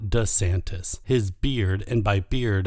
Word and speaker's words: DeSantis: course Dion D santis I recently discovered that the correct pronunciation is DeSantis and not DeSantis his beard and by